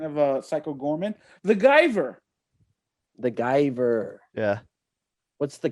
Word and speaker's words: Guyver: uh psycho gorman the guyver the guyver yeah what's the guyver about oh yeah that's another pronounce the one it's pronounced the giver it's the macgyver with